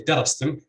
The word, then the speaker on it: darastum: So you'd say, excuse me, you say darastum with stress on the first syllable, even though the